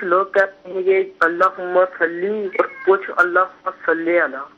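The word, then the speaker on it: صلِّ: تو عربی تلفظ جو ہے وہ اللہم صلی، یعنی لام کے نیچے زیر ہے.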